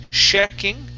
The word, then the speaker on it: checking: All right, instead of saying sh, checking, can you use a CH sound? Ch, checking. Checking. Checking. All right, one more time. All right, checking. So the difference here, you're saying a sh sound, like sh, be quiet. The difference between the SH and the CH is that the airflow, with this sound here, the CH, ch, okay, we stop the airflow.